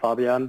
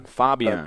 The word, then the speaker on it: Fabian: Obviously, your name is Fabian, and hopefully I got that name right. Pretty much, yeah. In German, we would pronounce it Fabian. Fabian.